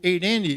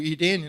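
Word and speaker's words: εἰρήνη: E tinha o eirene dos gregos, ou Irene na pronúncia moderna, né, deu o nome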